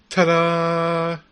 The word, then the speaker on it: Tdarr: I reckon that um you've got to pronounce this Tada Tada you got it